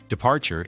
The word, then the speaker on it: departure: Departure is departure with stress on the second syllable.